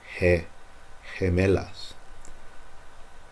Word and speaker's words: gemelas: Las palomas gemelas. Remember up here, I told you if there's no U, you pronounce the G like an H. Gemelas.